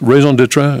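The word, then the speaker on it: raison d'être: work at the center of our lives their reason d'etre see I can pronounce raison d'etre I can get close to French even but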